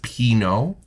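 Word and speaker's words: Pinaud: which somebody said in our comments is actually pronounced Pino.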